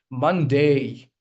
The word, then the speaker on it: Monday: So the primary stress lies on the first syllable. Okay. Monday. This is the diphthong I was talking about. Okay. It's Monday. All right. That's how you're going to pronounce it.